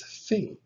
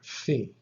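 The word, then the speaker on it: φ: It is pronounced like the F or the PH sound, like F in the word find.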